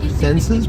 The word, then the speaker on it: Xenses: It's kind of like Zensus, but spelled with an X.